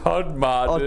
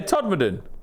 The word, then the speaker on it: Todmorden: Todd Or Marden. Todmorden. Todd Morden. Yeah, Todmorden. That's how you say it. You say it a bit quicker.